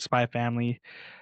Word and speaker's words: Spy x Family: Um hey Jojo kind of like Yeah, the X is silent.